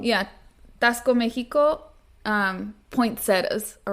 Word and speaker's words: Taxco: Christmas time um and Tasco Mexico is a town you Google Google it's spelled tax Co you guys like taxes then Co yeah Tasco Mexico um poetas all